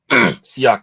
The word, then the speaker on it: Siak: That one is Sierra and Jacobo, but Siak is how you do pronounce it, though.